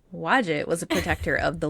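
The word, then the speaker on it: Wadjet: We're sacred to wad. That's definitely not how you say it. It's w a d jet t. Um it's going to be wadget to me. Wajette was a protector of the lower Egypt and royal authority.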